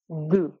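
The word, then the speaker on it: deux: এটার কোন হলো তো তারপর টু টু আমরা এটাকে প্রোনাউন্সিয়েশন করতে পারি দু সো টু এটার প্রোনাউন্সিয়েশন হলো দু এবং পাশাপাশি এটা হলো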